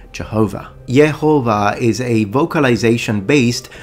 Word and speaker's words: Jehovah: by pronouncing yahu given the English pronunciation Jehovah is the result of a corruption due to a Latin transliteration which basically rendered in English pronunciation as a j with that being said